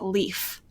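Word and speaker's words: Leif: chewy plays Nintendo that a certain character is pronounced leaf oh oh mic drop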